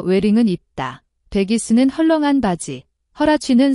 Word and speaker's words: Huarache: 여기서 웨링은 입다, 베기스는 헐렁한 바지, 허라치는 샌프란시스코에 본사를 둔 후아라체라는 신발회사인데 허라치는 후아라체의 영어 발음입니다. 그럼 노래를 들어보시겠습니다. You see him wearing their baggy, Huarache sandals do.